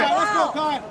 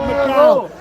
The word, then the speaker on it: McKay: SO STRONG IN THE MCKAY. OH, IT'S MCKAY. IT'S MCKAY. It's not McCall.